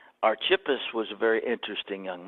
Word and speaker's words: Archippus: Greek manuals that I have it is not arch of us it is archippus so be it good or bad I did pronounce his name correctly archippus was a very interesting young man but more